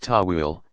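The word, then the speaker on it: ta'wil: allegorical or symbolic interpretations called towel pronounced Tawil to uncover the deeper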